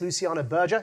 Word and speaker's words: Luciana Berger: I did ask Luciana the pronunciation of her name before we entered here this evening, and it's Luciana Berger, in case there was any doubt.